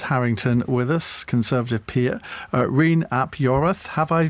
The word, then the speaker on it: Rhun ap Iorwerth: Rhun ap Iorwerth. Have I pronounced that in an acceptable that's fashion?